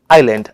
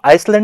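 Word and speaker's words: island: को मिल रहा है तो इसको हम लोग बोलेंगे बेटा आईलैंड अब इसको आइसलैंड नहीं बोलेंगे यहां पर आप सोचोगे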